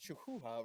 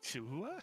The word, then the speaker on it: Chihuahua: Um, and we're also supporting the um, Texas the Texas Chahhua Rescue Canada help animals. I definitely butchered that. Chihuahua. That was pretty good. Chihuahua. Is that Chihuahua? Oh my god, it is Chihuahua.